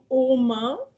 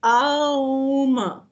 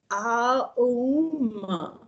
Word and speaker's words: Aum: unfortunately, the corruption of the sound has turned it into Om. It is Aum. Okay, it's Aum. It's a combination of not two but three sounds.